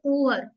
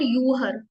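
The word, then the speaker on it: Uhr: देखो ये वर्ड है इसको हम बोलेंगे उहर उहर उहर नॉट यू हर उहर double O ना डबल ओ को हम साउंड आती है उ उहर उहर मींस क्लॉक ी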